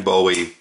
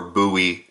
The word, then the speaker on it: Bowie: cool all right so that is the Moran Bowie or buoy XL however you'd like to prefer it or i' like to uh pronounce it I should say